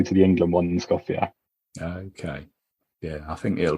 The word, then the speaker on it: Skopje: Is that how you pronounce it? Skopje, yeah.